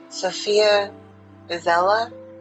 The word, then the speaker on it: Sofia Isella: Sofia Isella, I believe, is how her name is pronounced.